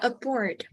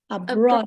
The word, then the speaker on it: abroad: that again abroad yeah aboard yeah so you pronounce the vowel sound first before the R so it should be a r a br br Broad oh wow abroad right abroad you can you can